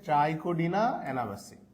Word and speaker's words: ট্রাইকোডিনা এনাবাসি: এটার উচ্চারণ হচ্ছে ট্রাইকোডিনা এনাবাসি।